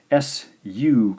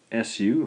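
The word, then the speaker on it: す: Our next character is the SU combination. SU, of course, that gives us the sound su, su.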